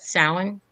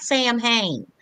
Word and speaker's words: Samhain: We call it Samhain. It's spelled Samhain. So most people say, "Oh, what's that Sam Hain?" But our holiday is Samhain.